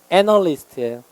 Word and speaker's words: analyst: 얘는 강세 이름절에 있어요. analyst예요.